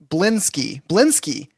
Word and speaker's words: Blinsky: they buy from blink I learned it's bling blingy not blink C Sky not KS y I might just keep calling him Blinky because I can't pronounce the other one upon their return blink BL blin blinsky yes blinsky with a short eye not a long eye uh upon their return